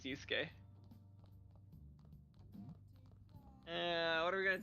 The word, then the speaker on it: Yusuke: y oh it is yusek no it's it's just two syllables yusuke uh what are we